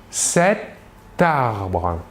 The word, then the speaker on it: cet arbre: Précision, nous ferons une liaison entre la T finale de l'adjectif démonstratif c'est et le A du début du mot arbre. Cet arbre.